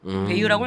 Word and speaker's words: Bayou: 베이유라고 읽는 거 맞죠? 네네네.